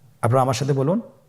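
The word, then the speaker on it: ب: বা হরফে টান হবে। এক আলিফ টান। আপনারা আমার সাথে বলুন বা আবার বলুন বা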